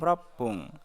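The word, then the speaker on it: ろっぷん: Menit keenam ropung.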